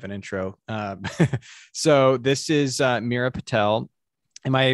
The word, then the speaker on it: Meera Patel: So this is Meera Patel. Am I pronouncing that correctly?